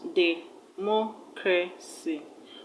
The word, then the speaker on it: democracy: Now, where should you place the stress? You should place the stress on the third syllable from the end of the word. Third syllable from the end of the word. And the third syllable from the end of the word is mo. Democracy. Democracy.